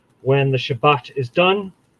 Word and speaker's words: Shabbat: we say when the Shabbat is done. Shabbat, or Shabbat if you want to be on the Mizrahi end of it, or on the Ashkenazi end of it, Shabbos.